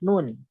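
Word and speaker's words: نٓ: Yang pertama huruf nun. Ejaannya seperti apa? Kita lihat tabel setelahnya. Ejaannya nun. Dibaca Nu. Nah, ejaannya ini dibaca 6 harokat dan menjadi mad lazim harfi.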